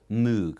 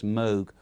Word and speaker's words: Moog: of people think it's moog but he had a little signage that's moog rhymes with rogue he's a national engineer